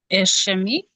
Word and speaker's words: ischemic: Ischemic, I think Right, so that's it's how it's pronounced.